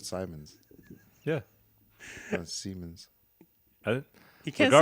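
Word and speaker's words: Siemens: e men's so now that you know the pronunciation say Simons oh okay that's what you said I thought you said Simons yeah seamons he can't say for some reason Simons now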